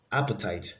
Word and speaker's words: appetite: take the remaining ones appetite has the stress on the first syllable so it is completely